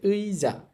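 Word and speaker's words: 의자: Ewing এর সাথেও আছে তাহলে এখানে উচ্চারণ হবে লেখা আছে উইজা উইজা অর্থ হচ্ছে চেয়ার আবার লেখা আছে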